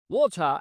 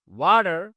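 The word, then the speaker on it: water: এখানে খেয়াল করুন, এখানে আমেরিকানরা বলে হচ্ছে ওয়াটার। খেয়াল করেছেন তো? এই টি এর উচ্চারণটাকে ডয়ের মতো শোনাচ্ছে এখন। সফট ডি বলা হয়। তাহলে ওয়াটার, ওয়াটার। আর ব্রিটিশরা বলে ওয়াটার, ওয়াটার। এখানে আর এর সাউন্ডটা হবে না। কিন্তু আমি আর বলতেছি।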